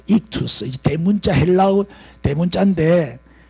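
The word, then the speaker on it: ΙΧΘΥΣ: 이금대 여기 안에 들어있는 글자가 익투스라고 읽어요. 익투스.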